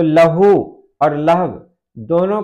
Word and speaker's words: لہو: तो लहू और लहव दोनों को बोलने का तरीका अलग है। लहू की जो हिज्जे है लाम जबर ला, हे वाव पेश हु, तो ये लहू हो जाएगा।